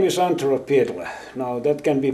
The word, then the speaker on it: Antero Pietila: But in Finnish, which is the country of my origin, Finland, it is pronounced Antero Pietila.